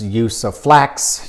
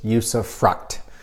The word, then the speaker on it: usufruct: flex use of flux use of frocks plus lots of other pronunciations but not to be too picky the correct pronunciation is usufruct there's not an S or an X on the end so this comes up